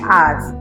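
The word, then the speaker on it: hours: हैं उनसे उल्टा एन आर्स यहां एच है वो साइलेंट है आर है वो किस लेटर से शुरू होता है?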